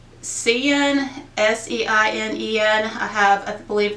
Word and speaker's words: Seinen: But I know one, I think it's called, and I'll put the names on because I know I'm going to mispronounce them. I think it's Seinen, S-E-I-N-E-N.